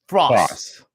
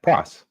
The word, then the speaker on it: Frase: uh so it's how do you FR Fross yeah Fross just like that so I'm confused hold up you got Fross and what's the other word there so I